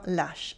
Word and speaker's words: lâche: Un lâche, un lâche. We have an accent circonflexe on le A, but it has no influence on the pronunciation.